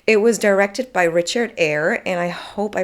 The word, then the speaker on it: Eyre: was directed by Richard air and I hope I pronounced that correctly but you write his surname like you write Jane Eyre you know the novel so I'm hoping it's Richard air if I butcher any